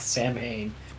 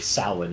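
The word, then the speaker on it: Samhain: wants to bring back Sam Hayne or I'm sorry sin is how it's pronounced he wants to bring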